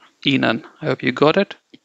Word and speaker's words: ihnen: Say none and then say alphabet E before that. E none. Okay, E none.